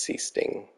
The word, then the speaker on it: Sichting: I've never understood why it's pronounced C-Sting. I don't know where he's from, but looks like Sichting or Sichting, but I believe it was pronounced C-Sting.